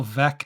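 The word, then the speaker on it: Veeck: White Sox fan but I know it's Bill veck is in wck because he wrote a book called veck is in wck so it's kind of something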